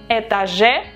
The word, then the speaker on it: этаже: So, этаж, we modify этаже, этаже, the stress syllable is on the last э, этаже, and all the adjectives have to have the ending ом or ем.